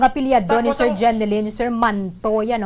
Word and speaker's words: Manto: Ang apelyado ni Sir Jeneline, Sir Manto, yan o? Not Mantok, not Hamantok.